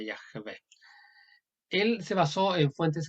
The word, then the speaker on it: Yahvé: Aquí está la yod, ya, la vocal A, Yah. Esta es muda. Se llama Shua. Yah de la Vav, Yahvé. Es una E. La última no se pronuncia cuando no tiene un punto en medio, entonces sería Yahvé.